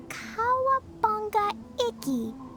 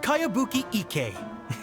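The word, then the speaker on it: Kayabuki Ikkei: By Kawabunga Iki. Yoimiya, this is a really strange name. Who's this Kawabunga? It's pronounced Kayabuki Ike.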